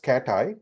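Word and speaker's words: CATAI: Southern California um and the pronunciation for it is katti it's an acronym right that stands for the collaboratory for algorithmic techniques and artificial intelligence I will tell you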